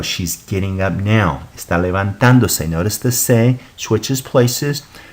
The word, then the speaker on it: levantándose: So it's pronounced, as you see it here in the book, is levantándose. If you didn't have an accent, it would be pronounced levantándose, and that is not correct.